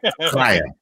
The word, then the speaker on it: L'chaim: You got to say it like L'chaim. You got to pretend that you're Larry King with a ventilator in his throat.